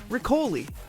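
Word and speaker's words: riccioli: But I'll never had riccoli. Rhymes with spicoli.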